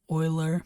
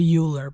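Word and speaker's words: Euler: Oiler. I used to say uler, but I learned that it's oiler, so I pronounce it that way now.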